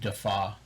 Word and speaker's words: Defauw: And last name is Defauw, pronounced Defaw.